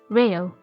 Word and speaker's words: LEO: As with the Japanese accent, Leo would be pronounced as Reo.